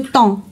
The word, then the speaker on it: temps: Donc le temps, on prononce pas p ni s donc le temps.